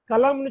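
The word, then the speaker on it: कलम: கலம்னு சொன்னேன் இல்லையா, க ல ம, கலம். எழுதுறது வந்து க ல ம எழுதுவோம், உச்சரிக்கிறது க ல இம்னு உச்சரிக்கணும்.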